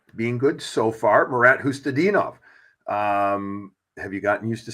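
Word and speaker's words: Khusnutdinov: Phonetically is a problem. So I looked at him like, but I knew it's Hustadinov.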